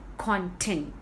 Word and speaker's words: content: Here I am stressing on the second syllable.